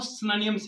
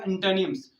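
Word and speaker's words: synonyms: तो जो सही प्रोनाउंसिएशन है वो सिनोनिम्स नहीं है, वो सिनोनिम्स है। और जो सही प्रोनाउंसिएशन एंटोनियम की है वो है एंटोनिम्स, सिनोनिम्स एंड एंटोनिम्स।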